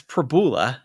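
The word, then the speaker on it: Pribula: Yeah, it's Prabula. I think it's the best way to pronounce it.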